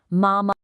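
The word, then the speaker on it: 妈妈: And for mother, we have mama. Mama. Now, notice this beautiful tonal contrast. This is the first tone. It's high and it's perfectly level. It's like you're holding a single clear musical note.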